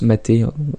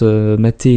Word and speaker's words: MATE: donc c'est un environnement qui se prononce mater c'est comme doom les prononciations sur linux sont toujours un petit peu particulière dans se prononcent mater non mais dites donc par avance que j'ai compris c'est parce que c'est le nom d'une plante d'amérique tu mérites du sud voilà donc pour installer